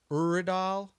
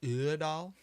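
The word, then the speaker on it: Øvredal: So, uh Andre Iredal Urdal It's Swedish, so it might be like Urdal.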